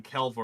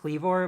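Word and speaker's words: Kleavor: up not like ended up liking Sor liking kelv more than Scizor it's pronounced cleor but I I can see liking CLE more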